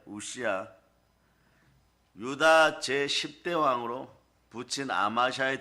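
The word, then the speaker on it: 웃시야: 다른 발음으로는 뭐 아사랴 이러는데 우시아입니다. 우시아.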